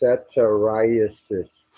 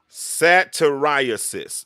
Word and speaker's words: satyriasis: time pronounce that word for me again it's pronounced ceterisis sateriasis that is what jacob was dealing with satirists